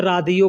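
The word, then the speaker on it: راديو: Radio को अरबी में रादियो बोलते हैं।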